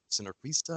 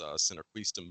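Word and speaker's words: sinarquista: I believe it was the synarquista is how it's pronounced.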